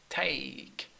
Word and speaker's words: take: please take please Tech it is not Tech it is take take it's along with accent